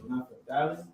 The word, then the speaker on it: Naphtali: It's Naphtali. Naphtali. I don't know how to spell it in English, but it don't matter because I'm not an Englishman.